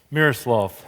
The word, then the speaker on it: Miroslav: Miroslav. Miroslav. Good. I like that better.